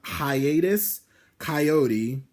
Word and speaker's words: Hiatus Kaiyote: rise up um hi I think it's pronounced high hiatus kaiyote I believe that's how you say it I hope that's